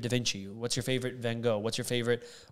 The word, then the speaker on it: Van Gogh: What's your favorite Van Gogh? What's your favorite, or Van Gogh, if you want to pronounce it right?